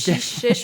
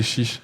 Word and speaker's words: chiche: Chèche, je sais pas. Il y a des gens, ils prononcent chèche et des gens, ils prononcent chiche. Moi, je sais jamais. C'est chiche. Chiche.